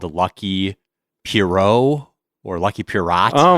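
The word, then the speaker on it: Lucky Pierrot: Lucky Pierro. It's a French word, but yes, I did hear about that and I am excited to try that out, too.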